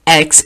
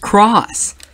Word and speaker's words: cross: fan you'll remember that it's not supposed to be pronounced X it's supposed to be pronounced cross which is very interesting